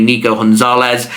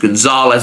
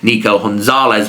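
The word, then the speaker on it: Nico González: his name would be Nico Gonzalez of course with him being Spanish they're going to roll that g into a h uh I'm so used to seeing it pronounced Gonzalez I've gone with that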